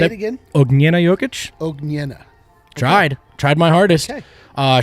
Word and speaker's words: Jokic: everyone's healthy great news apparently you nailed the pronunciation did i yeah say it again jokic tried tried my hardest uh shout out to